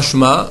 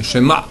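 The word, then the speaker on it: שְׁמַע: Maintenant avec Ain, Shema, et pas Shema, d'accord? Parce que des fois, Ain Hei, c'est A. Shema, Yisraël, Hashem Elokeinu, Hashem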